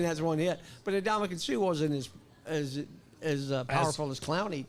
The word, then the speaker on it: Ndamukong Suh: Number 1, Ndamukong Suh. You pronounced that right.